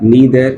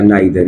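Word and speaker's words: neither: अब इसमें दो एक पेयर्ड वर्ड्स यूज होते हैं, एक होता है ईदर, या इसको अमेरिकन लैंग्वेज में आइदर भी बोल सकते हैं, और ठीक है, या नीदर या नाइदर।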